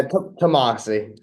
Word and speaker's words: Tomassi: in West Greenwich Rhode Island he is tamasi am I getting the last name right I've heard it pronounced both ways yeah tamasi yeah okay tomasi everyone says it completely